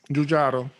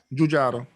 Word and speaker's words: Giugiaro: Giugiaro. Giugiaro. Designed by Giorgetti Giugiaro. Oh God. Very well done. That's scary, the pronunciation.